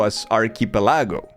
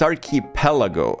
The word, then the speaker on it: archipelago: And the streamer pronounced the word archipelago as archipelago. Native English speaker. And it's like, "No, no, it's aripelago."